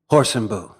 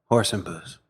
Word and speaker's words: Hoorsenbuhs: H and boo yeah with or without the S it's without the S